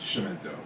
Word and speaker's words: Chiumento: finally my partner corrected me he says it's shimento but thankfully they haven't quite yet so so